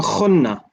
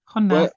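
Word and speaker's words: نحن: It sounds a little bit like you're saying khunna. No. خن. Where the ha is a very gentle H sound.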